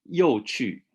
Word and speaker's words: 有趣: 有趣，有趣 that's the fourth tone, non-third, so it's a low fourth, low fourth. 很有趣，很有趣。So not 很有趣.